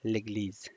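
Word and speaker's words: l'église: در نخست چی آمده ل گلیز ل گلیز ببینین چ قسم تلفظ میشه لگ لیز لگ لیز به انگلیسی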